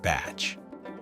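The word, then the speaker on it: bach: The classic Kiwi holiday is a trip to the botch, pronounced batch, a modest, often rustic, holiday home by the sea, where life is simple and focused on family and nature.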